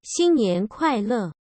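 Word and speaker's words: 新年快乐: So that's what's written there, and it's pronounced like this. 新年快乐.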